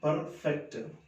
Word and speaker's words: perfect: But see, it in American English, this R is to be pronounced. It is perfect.